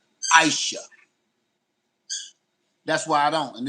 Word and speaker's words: Aisha: over people names because your name is spelled A I S H A. And you said you pronounce it Aisha.